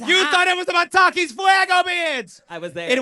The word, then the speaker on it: Fuego: And then FU, which is spelled, FUEGO. Fuego.